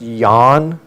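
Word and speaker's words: Yuan: I think the company name is pronounced Yan, but my Chinese is a little broken.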